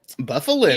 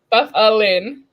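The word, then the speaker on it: Byfuglien: It's so easy, and like for some of these, I like wrote it out phonetically just to like show you. Wait, no, okay. Wait, there you go. Buffalin. Easy. Yeah. Buffalin.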